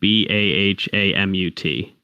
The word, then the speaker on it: Bahamut: I'm probably going to butcher the name, but it's spelled, I believe, BAHAMUT. Oh, Bahamut.